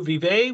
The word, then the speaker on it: VIVÉ: So some people have asked, what does VIVÉ mean? And VIVÉ means long life, vivacious, vivid. So in terms of how to pronounce it, the easiest way for me to remember is Vive la France, and in terms of long live France.